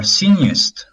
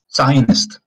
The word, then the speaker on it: Zionist: If you want to be in the other extreme with Jewish people, they are sinist. I think that's how it's pronounced. Sinist? Right? Zionist? Zionist.